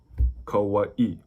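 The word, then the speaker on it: Kauaʻi: So if you see the apostrophe looking thing, that's called an okina. It's considered a letter in the Hawaiian alphabet. So it's always going to be between two vowels, and it's a break between the vowels. That's why, like, Molokai, Kauai.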